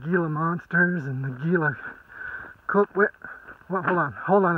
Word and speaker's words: Gila: gila monsters and the gila coke hold on hold on a second what you what really it's pronounced gila gila yeah i knew that